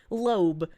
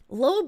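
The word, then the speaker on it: Loab: probably break lobe whisper it's spelled l-o-a-b Loeb Loeb is a horrific Eldritch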